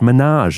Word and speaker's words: Minhaj: So in a Washington Post oped, Clooney and his partner John uh Prindergrst uh pronounced Minaj, it's written right here, said that the